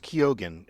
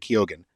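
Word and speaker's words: Keoghan: eye on Barry kogan um and it's apparently pronounced kogen apparently in in uh Ireland it's normally pronounced Ken but he's from Dublin and they pronounce it kogen just in case you want to know um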